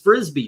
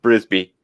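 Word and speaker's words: Mrs. Brisby: scenes in them I mean the uh Mrs frisbee trying to save her house as the M came down by the way but secret yeah what what' you say her name is Mrs brisbee bris what did I say frisbee oh okay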